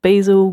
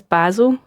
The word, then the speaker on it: Basil: study of the artist Basil Gogos. Now, I would pronounce this basil as a Scottish person, but every interview or anytime I've heard anybody talking about them, they pronounce it basil.